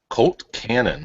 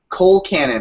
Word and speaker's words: Colcannon: Colt cannon. It's always Colcannon.